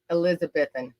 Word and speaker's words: Elizabethton: Elizabethton. They say Elizabethton. Yeah. I say Elizabethton. Yeah, they don't pronounce Tennessee.